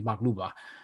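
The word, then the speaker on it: maqluba: um palestinian traditional dish called mach luba and hopefully i'm saying it correctly mark luba you are i just made it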